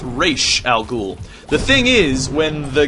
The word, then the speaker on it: Ra's al Ghul: He researched later and found out that it's actually pronounced Raish.